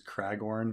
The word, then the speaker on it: Cragorn: gets his name wrong the guy's name is cragorn but it says clagorn um and that's that's an intentional mistake George says that when he when he reads it he says clagorn instead of cragorn um